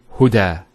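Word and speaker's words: هدى: Now this is not actually a ya, it's an alif. It's called an alif maqsura, and it's exactly like an alif, the way it's pronounced. It's like a ya without the 2 dots. So we say huda.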